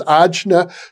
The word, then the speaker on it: Ajna: Well, another important point coming from the yoga tradition is that you called it the Agni chakra, and I've heard it pronounced Ajna chakra.